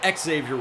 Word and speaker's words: Xavier: and trying to find Xavier worthy or ex zavier worthy as he pronounces it there's going to be